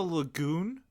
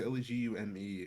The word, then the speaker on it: legume: you do it like did you just say it's a lagoon a lagoon leg I think it's legume is how you pronounce it but it's a legume